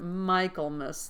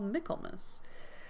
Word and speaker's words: Michaelmas: because Michaelmas sounds like Michaelmas, and I called it Michaelmas like the first couple of times that I read it, and then I looked it up, and then I watched the 1995 Pride and Prejudice version, and then I realized it was called Michaelmas.